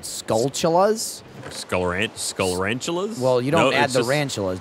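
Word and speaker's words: Skulltula: So I've always pronounced them skullas, but apparently it's the same spelling as tarantula, but they just changed skull and like from tarant to skull.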